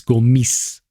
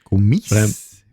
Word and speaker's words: Gomis: It's Gomis. Oh, Gomis. Okay. Gomis. Yeah. So the S. Practice. It's not like Paris in French where you leave the S that you don't hear it. But with Gomis, you have to pronounce it with.